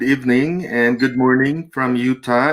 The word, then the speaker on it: Utah: relatives there pero utah i don't even know that it's pronounced as utah no it's i thought utta or i don't know so now it's utah okay utah you're not